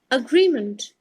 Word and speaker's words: agreement: The note says MENT at the end of a word is pronounced as month by native speakers. Now let's look at an example word. Agreement.